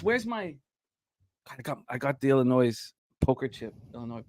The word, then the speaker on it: Illinois: I got the Illinois poker chip. I know we don't pronounce the S.